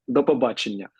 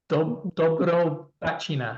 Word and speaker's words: До побачення: До побачення. Dobrobachina. Ні. До побачення. It's two words. Dobrobachina. No, it's two words.